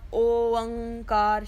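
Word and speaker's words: ਓਅੰਕਾਰ: out properly, which is an open uda with a hoda, which gives us the sound of O, and then era tippi ang and kakka kanna rara kar.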